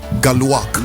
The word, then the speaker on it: Galuak: Before I go off and say my own things, how do you pronounce it? That this is Galuak. Galuak.